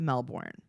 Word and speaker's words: Melbourne: to it's like he she's like Melbourne and and he's like actually we call it melbour and she's like oh so you don't pronounce the r and he goes say